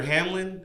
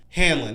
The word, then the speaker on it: Hanlon: The first is Major Hamlin. Hanlon? Wait, is that how you say his name? Hold on. Hanlon, yeah.